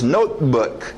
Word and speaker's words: notebook: Note, engole o T e o B não batem. 2 consoantes. Notebook.